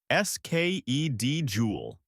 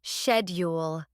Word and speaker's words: schedule: Easy. Skul. Wrong. It's schedule.